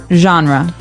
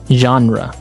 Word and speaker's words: genre: We say genre. genre. Word genre. This kind of sounds French.